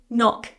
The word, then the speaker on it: knock: I don't say can and can knock and knife. I say knock knife.